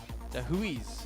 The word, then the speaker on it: Jahuiz: I asked the manager, and he said that's the way of pronouncing is Jahuiz.